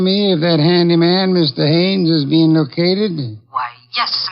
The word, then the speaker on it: Haines: Haines. H A I N E S. Ah. Oh, Haines. Well, there was a fellow named Hines used to fish out here. no, not Hines, Haines.